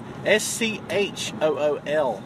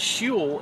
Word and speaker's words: school: S-C-H-O-O-L. Oh. And you know how it sounds? It's spelled like shul. But it's not shul, it's school.